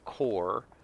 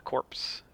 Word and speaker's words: corps: C-O-R-P-S is a core, silent P and silent S. It's not a corpse.